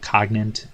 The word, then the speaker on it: Cogint: Cogint, I think it's called Cogint. That's how they pronounce it, which is basically an IT company that deals with data information, performance marketing.